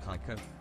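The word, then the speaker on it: Kayko: time to say that my name is actually pronounced like kaiko I've been getting Kiko my whole life so NBD he much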